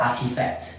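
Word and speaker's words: RTFKT: so lucky as an ft and a lot of people think that it's Nike's nft right it's called artifact and it's spelled r p f key so it's artifact right um the truth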